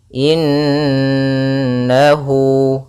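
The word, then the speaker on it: إنه: aduwum mubin kemudian padafal innahu di sini ada bacaan gun berupa huruf mim yang ditasdidkan dan diwarnai dengan warna hijau yang artinya nunnya harus ditahan dulu suara nnya inahu innahu kemudian padafel hu ada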